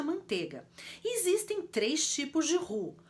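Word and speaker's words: roux: com o forma o por isso que a gente vai pronunciar a rua e não hooks até porque eu também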